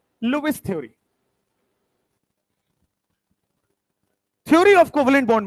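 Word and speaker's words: Lewis: Hindi NCERT पे वहां पे लुईस लिखा हुआ है, हिंदी प्रोनाउंसिएशन इसका लुईस है, ऐसे इंग्लिश में लेविस बोल देते हैं।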